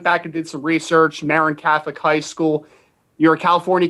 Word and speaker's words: Marin Catholic: your student athlete career yeah i mean uh marin catholic uh is how it's pronounced but uh but yeah um to